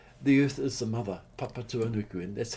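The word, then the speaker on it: Papatūānuku: we go, Chinese, the earth is the mother, papa tuanuku, and that's how they say it in Maori, but every in English we say Mother Earth.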